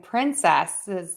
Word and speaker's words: princes: Are princes and princess homophones? No. So princes has the stress on syllable 1.